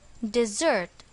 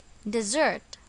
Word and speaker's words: dessert: it is pronounced as dessert notice that the stress is on the second syllable dessert example mom is currently